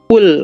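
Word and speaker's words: قل: Idza jaa Idza jaa nashrullahi wal fath kan yang qol qol juga ini kadang eh dibacanya qul ya, ini dibacanya kaf pakai kaf gini nih. Qul, nah ini bisa fatal ini artinya.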